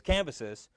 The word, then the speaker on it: Cambyses: I forget how to pronounce his name. Cambyses. That's what it is. Cambyses.